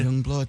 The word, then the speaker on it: YUNGBLUD: here Dominic Young Blood Young Blood thank you for having y u n g b l u d yes that's how you say it yes Grant Owens thanks